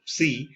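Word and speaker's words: ψ: Original Greeks pronounce this as psi, we also pronounce this as psi.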